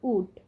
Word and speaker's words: would: প্রথম নিয়মটি হলো, যদি ডি এর আগে এল থাকে সেক্ষেত্রে দেখুন সঠিক উচ্চারণটি হবে উড, উল্ট নয় কিন্তু।